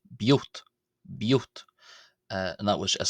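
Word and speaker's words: ⲡⲓⲱⲧ: and that was as simply the definite article there being pronounced as b, and then the word for father being pronounced as yot, giving b, yot, biot, biot, biot.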